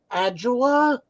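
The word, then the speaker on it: Ajala: to speak to I don't know how to pronounce his last name David agula Booker yeah that's right yeah agela is right uh I've gotten to talk to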